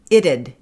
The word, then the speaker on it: it'd: It'd. It'd. It, so how you pronounce that, the T again, is going to be the flap D. And then a little ud at the end.